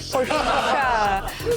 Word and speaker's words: Porsche: Camaro and test drive a super fast hybrid Porsche. Yeah! That's how you say it. That is. Won't make it any bigger, but you pronounced it right. Porsche.